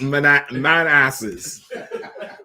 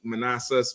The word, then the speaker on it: Manassas: Okay, it's not pronounced man asses, but I believe those names come from Native Indian chiefs. Chesapeake, Manassas, Potomac, Seattle.